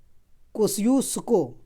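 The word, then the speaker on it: Kosciuszko: कोस्यूस्को इसका उच्चारण होता है।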